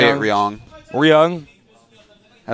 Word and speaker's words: Ryung: home well it's like it's in between the r and the l sound no i like to say ryong we're young i like